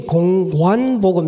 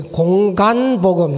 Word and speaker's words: 공관복음: 여러분이 좀 시험을 안 치니까 제가 모르겠는데, 시험을 이렇게 쳐보면은 제 발음이, 저는 분명히 공관복음 이렇게 했는데 나중에 공간복음 이렇게 공간복음 이렇게 적어놨어요. 공간복음이 아닙니다. 공관복음. 네.